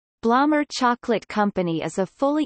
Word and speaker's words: Blommer: been family-owned ever since the family and company name is pronounced bloomer the factory in the